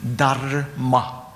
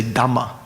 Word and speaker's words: dhamma: change the tongue from dharma, to change from that. It's more easy when you're speaking quickly, colloquially, to say dhamma, the same syllable twice.